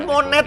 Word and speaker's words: Monet: Namanya Monet anjing, bacanya Mone, T-nya nggak dibaca.